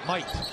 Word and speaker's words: mate: Might. Yeah, I didn't know that. Well, you got to get the pronunciation right. It's mate, but they say Might.